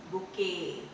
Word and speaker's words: bouquet: BOUQUET। बुकेट नहीं, बुके, बुके। तो ये टी जो है यहाँ पर भी साइलेंट होगा।